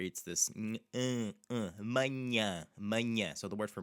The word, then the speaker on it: manhã: You actually have the in manhã, the first one, because it has an N after it, that NH especially. Manhã. You have two of the same sounds in that word.